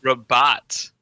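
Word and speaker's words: Rabat: morocco wow it is rabot let's spell it please yeah please because it sounds like you're just saying robot in a fancy way almost like robot it's just r o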